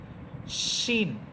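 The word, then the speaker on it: ش: শিন, শিন এটা সিনের মতো হবে না। শিন এটা তালব্যস্য দিয়ে বলবেন, বাংলায় তালব্যস্যর উচ্চারণ করবেন, শিন, শিন।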